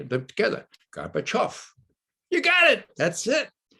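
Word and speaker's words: Gorbachev: off off okay now let's say them together garba chuff you got it that's it now i could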